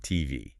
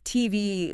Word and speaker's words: TV: In English with initials like that, we usually stress the last letter. So, it's not TV. It's TV.